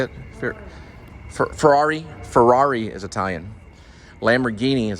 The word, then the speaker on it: Ferrari: electric Porsche Porsche is German Lamborghini is Italian Fiera or how do you say it Ferrari Ferrari is Italian Lamborghini is Italian um that's